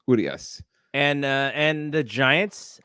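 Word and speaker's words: Urías: so good on him so they're they're lefty uh is it yurious or urias urias urius i think the accent is on the ooh so it's urias and uh and the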